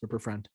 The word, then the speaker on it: Rupert Friend: But hey, I actually do think Rupert, how do you pronounce it? Friend or Rupert Friend, I believe that's how it is. Rupert Friend.